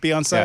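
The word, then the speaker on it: Beyoncé: Beyonce. It's like fiance. The accent on the Beyonce.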